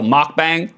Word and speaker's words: mukbang: Bingo, spelt miak, pronounced more like mock. Okay, mock. So mukbang. Gotcha.